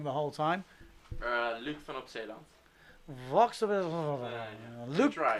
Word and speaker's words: van op Zeeland: Luke van op Zeeland. Luke van op Zeeland.